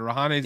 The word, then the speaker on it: Rahane: Yeah, just Rahane's the only one above him. That's Indian. That's above him. Interesting. So Rahane's even above him.